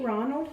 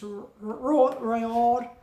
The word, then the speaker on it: Roald: Did I say Ronald? I think I did when I was talking about Charlie and the Chocolate Factory. Sorry, it's Roald.